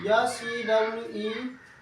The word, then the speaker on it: sewerage: It is written here SEWERAGE, okay? Sewer is written, but we read it as what? Sewerage.